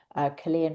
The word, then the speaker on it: Kirlian: They've taken Chilean photography, Chilean photography where they see the aura. It's spelled KIRLIAN, Chilean photography.